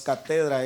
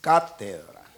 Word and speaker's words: cátedra: corrigieron y me dijeron no es cátedra es cátedra y lógicamente tengo una